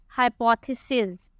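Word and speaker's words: hypotheses: और इसकी प्रोनाउंसिएशन है कि हम आखिर में Z की आवाज़ निकालेंगे, हाइपोथेसिस।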